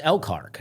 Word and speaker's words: Elkhart: Uh they call it Elkhart. I guess I call it Elkhart because that's how it's spelled. Yes. But spell it like you want me to say. I mean, it's like elk and heart together. I'm like, "That's Elcart." And they know it's Elcart.